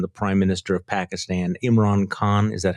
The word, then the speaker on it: Imran Khan: Jonathan Swan and the Prime Minister of Pakistan, Imran Khan. Is that how you pronounce his name?